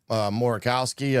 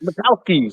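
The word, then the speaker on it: Makowski: Uh Morowski, I think that's how you pronounced it. Macowski. Zen Macowski.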